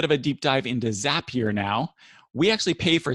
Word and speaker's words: Zapier: Zapier is the correct pronunciation, but I've had a habit of calling it Zapier sometimes.